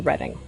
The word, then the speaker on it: Reading: So my bio is I'm a lawyer based in this city named after my favorite hobby because I live in Reading. But it's pronounced reading if you look at it on the page.